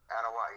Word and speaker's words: Anoa'i: I I really hope I don't butcher this anaii is that how you say it anaii yeah you got it oh man I nailed